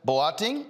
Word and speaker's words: Boateng: Joining me now from Canada is Leah Boateng, owner of Mercy Cookware and Company. Did I pronounce the last name right?